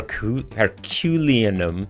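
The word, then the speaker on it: Herculaneum: herculian um herculanum her herculanum scroll revealed if for people who are not watching the word is like spelled like Hercules but herculanum as in the place of Hercules this is a very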